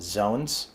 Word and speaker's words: XON: calling zones not nodes xon is pronounced zones we're going to explain